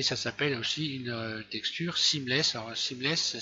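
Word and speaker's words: seamless: anglais c'est une texture qu'on appelle une texture simless moi je l'ai appelé sans raccord parce que je fais tout en français mais ça s'appelle aussi une texture simless alors simless ça s'écrit s e a M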